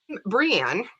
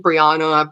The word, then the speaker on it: Breanne: name come from well so I'm breanne and everybody likes to play with my name and nobody ever gets it right and that's okay because I have been Briana Briana they spell it wrong like usually if I spell my name like Bri B or e because it's BRE a and Annie and I don't care